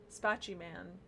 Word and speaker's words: Spaceman: Spaceman, but they pronounced it Spachy Man.